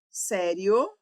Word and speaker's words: sério: Sério é uma paroxítona terminada em ditongo crescente. Maria também é uma paroxítona terminada em ditongo crescente. Observe. Sério. Tônica no sé, que é a penúltima sílaba.